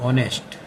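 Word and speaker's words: honest: everyone respects ऑनेस्ट में अब यहां पर एच जो है वो कंसोनेंट है लेकिन पढ़ने में नहीं आ रहा अपन जैसे पढ़ रहे हैं तो ऑनेस्ट ओ आ रहा है ओ मीन्स वोवेल ओ वोवेल है इसलिए हम यहां पर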